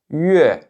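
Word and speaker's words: 月: Ici, faites bien attention. Ici, je ne prononce pas yue, yue. C'est yue. Donc vous voyez, c'est pas comme un accent aigu à la fin en français, c'est autre chose.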